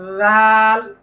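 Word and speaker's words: ر: দেখেন এই হলো জিহ্বার আগা তার পিঠ তার বরাবর উপরের তালুর সঙ্গে লাগবে র র র আপনি আয়না দেখে দেখে বলুন এরকম যেন না হয় র বা রা এরকম যেন না হয় সঠিক উচ্চারণটা আরেকবার লক্ষ্য করুন র তারপরের হরফটি লক্ষ্য করুন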